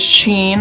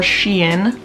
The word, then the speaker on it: Shein: time another one is sheen or sheen i've heard it pronounced both ways it's a lot like